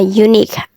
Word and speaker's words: unique: Contohnya, kalau ada pola nih belakangnya kue gini nih, Q-U-E, itu dibacanya tuh Q aja. Jadi U sama E-nya itu silent. Contohnya unique, antique, technique gitu.